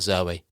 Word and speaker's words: Zooey: Isn't that Zoe? Yes, well, apparently it's Zoe, yeah. But there's two O's in it. So it's spelled Zooey. So why the fuck is she being called Zoe? That's incorrect. It's Zooey.